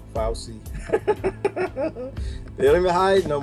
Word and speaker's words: Fauci: I know his name is pronounced Fauci.